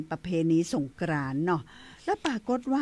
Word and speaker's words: สงกรานติ: เพราะ ฉะนั้น แล้ว ก็ ใน ภาษา สันสกฤต นี้ เปิ่น อ่าน ว่า สงกรานติ ติ นี่ มี ติ ด้วย นะ เจ้า เป็น